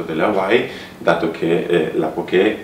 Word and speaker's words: poké: E la dicitura su Wikipedia, perché mi sono informato da chi ne sa di più, dovrebbe essere poké, con l'accento sulla finale. Sulla finale, poké.